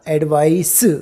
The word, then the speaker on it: advice: और प्रोनाउंसिएशन भी देख लीजिए, इसका प्रोनाउंसिएशन होगा एडवाइस। स का साउंड आ, देखिए स, एडवाइस। क्यों? CE स का साउंड देता है।